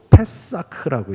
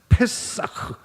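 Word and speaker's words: פסח: 유월절이라는 명칭은 히브리어로 페사크라고 얘기해. 페사크. 따라해 볼게요. 페사크. 패. 예.이 흙 발음을 이제 사실은 세게 해야 돼요. 패싹.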